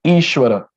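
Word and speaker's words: ईश्वरः: ishwara e okay e and there is a line on s there is stroke on s so it becomes sure so this becomes ishwara and now there's a dot below h so whatever is there before h so that we know again pronouns so this is like ishwara ishwara then we have a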